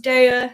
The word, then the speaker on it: Daiya: I know it's technically pronounced Daiya. It's one of those things that I like saying Daiya.